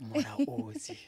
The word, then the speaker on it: Mulaudzi: Today we have Mulaudzi. Thank you so much for welcoming myself. Like, I really love the way you pronounce myself, Mulaudzi.